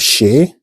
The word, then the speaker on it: chez: We have chez. Chez. At the end of the chez, we have Z, but it's mute. You don't pronounce the Z at the end of chez.